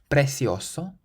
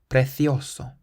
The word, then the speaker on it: precioso: The next word can be pronounced either precioso, precioso, or precioso, precioso.